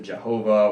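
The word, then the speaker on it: YHWH: is the Tetragrammaton where you can pronounce it Jehovah or yeah oh ah most people just say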